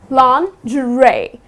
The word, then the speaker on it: lingerie: way to pronounce would be okay so it's long Dre that's how you would pronounce this word another one that I have